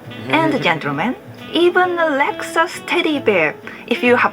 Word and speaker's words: Lexus: it one more time we pronounce it pretty similar there are some theories about the origin of their name but seems like it's a coined word comes from the German word luxas that means luxury is a fancy brand